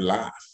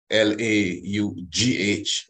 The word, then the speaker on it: laugh: You know, look at the word cough and the word laugh. L-A-U-G-H, laugh. So the F in laugh is G and H.